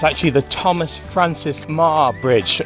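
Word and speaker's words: Meagher: actually the thomas francis ma bridge it's just spelt in a funny way with a silent g in it and that bridge spans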